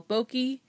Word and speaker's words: bokeh: If anybody knows photography, this is what they call bokeh, B-O-K-E-H, I think, is how you pronounce it.